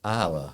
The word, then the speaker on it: Ila: years in the booming Metropolis near Athens called Isa I'll spell it if you haven't heard of I L